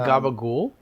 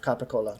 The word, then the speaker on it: capicola: But I don't think that is the correct pronunciation of capicola.